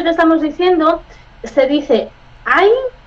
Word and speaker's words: ein: Skip, en la gramática hay muchas derivaciones de ein. Siempre es ein. Escrito E-I-N, escrito E-I-N, pronunciado A-I-N.